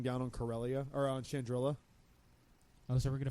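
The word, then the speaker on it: Chandrila: she's like, we're standing here over the planet Chandrilla. She says it weird, and I'm like, it's Chandrilla, stupid. Say it right.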